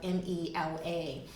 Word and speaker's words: Mela: website, Mela Lifestyle, and it's spelled M-E-L-A Lifestyle, Mela, strong E.